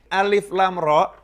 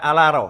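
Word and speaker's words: الر: tidak tahu baca Alquran maka membacanya bukan Alif Lam ro membacanya seperti orang membaca dalam bahasa Arab akan dibaca alarm Hai karena dulu gak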